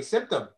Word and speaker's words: symptom: know symptom symptom absolutely symptom because the other ones all sound like i sty bystander type style but symptom it's a different sound so very good it's